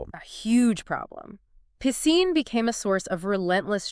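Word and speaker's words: Piscine: Pissine became a source of relentless childhood torment. Constantly mispronounced by his peers as pissing.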